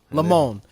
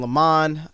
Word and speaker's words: Lamone: guest uh can you how do you say your last name lemon lamone all right i'm i was saying le man i was saying lamont you know i don't know where the t came from i just felt